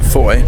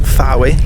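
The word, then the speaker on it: Fowey: We are currently at Foy, which is pronounced Foy, not Fawi like it's spelled.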